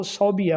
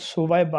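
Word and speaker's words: ثویبہ: کا نام ہے سویبہ۔ بعض اس کو صوبیہ پڑھتے ہیں، جو کہ غلطی ہے، فوش غلطی ہے، درست لفظ سویبہ ہے، سے وہ یہ اور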